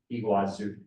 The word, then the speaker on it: Iguazu: a domestic flight from Salo over to fazu Iguazu is how it's pronounced so it's right on the border you